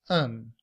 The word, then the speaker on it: an: In everyday speech, we do not say an. We reduce that to a schwa and the letter n to pronounce it as un.